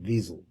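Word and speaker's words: Wiesel: where I was and they pronounced his name Visel. But anyway, Ellie Wisel visited.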